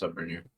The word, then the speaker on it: Suborneer: Just Suborneer.